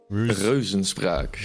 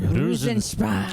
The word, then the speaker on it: Reuzenspraak: Reuzenspraak. Reuzenspraak. Yeah, the EU combination is a O.